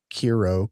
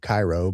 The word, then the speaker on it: Kiro: Um it's k i r o Kiro Cairo, but uh the guy that owns it is Israeli and he pronounces it Kiro.